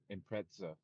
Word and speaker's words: Impreza: Yeah, in the UK they call it imprea. Like they throw a T in there somehow. I just call it an impreza because that's the way it's spelled.